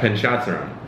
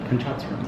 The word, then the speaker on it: Panchadsaram: What I've learned with, it's the first time I'm ever actually pronouncing your last name. Go for it, give it a shot. Panchadsaram. Perfect. Panchadsaram, yes. Panchadsaram.